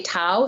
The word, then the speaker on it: Dao: sometimes I say tao sometimes I say Dao and that's just because of that background but today it's Daoism because it's linked more to Mainland China but the traditional way would be ta Tao that's fascinating I had